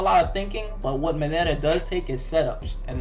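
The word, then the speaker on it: Mineta: to beat the s but nevertheless it's possible moneta moneta is okay how to say this minetta is good i've seen i seen him do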